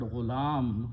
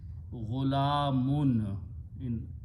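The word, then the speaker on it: غلام: When the word ghulam, for example, is used for a child also or a young man. Full word is ghulamun.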